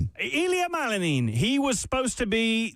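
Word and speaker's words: Ilia Malinin: Ilia Malanin. Ilia Malanin.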